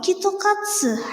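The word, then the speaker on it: キットカット: exam popular since 1970s KitKat are in Japanese pronunciation called kitokatsu has the meaning of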